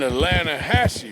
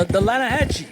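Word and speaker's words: Altamaha: some beautiful steelhead trout you made an Atlanta Hassey River no no no no no no the Atlanta Hatchi it runs right near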